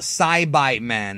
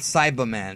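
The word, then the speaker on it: Saibaman: grow the sa man and yes folks it's pronounced sibi man not cyber man saai is is Japanese for I think soil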